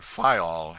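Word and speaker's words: Fayal: island of the group fail the people there pronounce it file and put the accent on the first syllable we anchored in the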